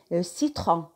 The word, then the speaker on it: citron: سيترون citron اللي هو الليمون. citron اللي هو الليمون يتلفظ اس.